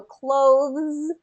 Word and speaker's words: clothes: So clothes versus bathes versus bathes. You can kind of, you want to pull that voicing all the way through. So to answer your question, I'd say yes. Get that voiced consonant and kind of hold it a little bit longer to pull out that voiced ending.